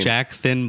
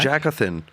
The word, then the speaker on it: Jackathan: Jack Thin Black? Jackathan. It's like Jonathan. But Jackathan.